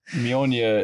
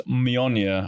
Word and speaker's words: Mjolnir: Like, Mjolnir is my hammer.